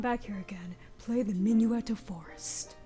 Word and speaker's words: Minuet: In order to come back here again, play the Minuet of Forest. Is that how it's pronounced? Yes. Yeah, Yes. it's minuet.